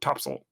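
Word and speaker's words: topsail: until you hear it like the word t-o-p-s-a-i-l you would pronounce top sail no topsoil it's like how kingsport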